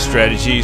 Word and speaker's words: Strat-Edgy: His channel is called Strat-Edgy, but he just pronounced it as strategy, so it's basically the